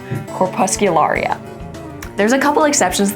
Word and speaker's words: Corpuscularia: imposing names and just work it out letter by letter, pronouncing each one. So this little guy, for example, I would break it down and say corpuscularia. And you can put it all together and you get corpuscularia.